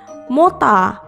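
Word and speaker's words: モーター: Berikutnya ada gambar mesin penggerak atau motor yang dalam bahasa Jepang dilafalkan dengan mota.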